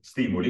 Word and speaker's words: stimuli: So you have two stimuli here, or stimuli, if you really want to pronounce it the correct way in Latin, that do two things.